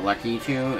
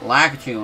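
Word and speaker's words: Lakitu: opportunity to say that anybody that calls like a two lucky two is wrong I'm sorry I'm sorry random YouTubers but no he was he was not called lucky thing I've heard people say it like that for years and I'm like no that's not how you say it and then Mario Maker comes around and it's it and it says lack you and I'm like bro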